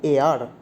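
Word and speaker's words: heir: অ্যান এয়ার, এয়ার মানে উত্তরাধিকারী, hour মানে ঘন্টা, এয়ার মানে উত্তরাধিকারী, হেয়ার নয় কিন্তু উচ্চারণটা হচ্ছে এয়ার।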